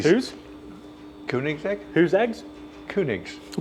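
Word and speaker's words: Koenigsegg: Kunig. How do you pronounce it? I say Koig's egg.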